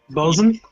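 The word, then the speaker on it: boatswain: say it but like the boat swi or whatever it is bosen yeah you could be that I would be I'll do whatever you want me to do I could do a bosen I could probably be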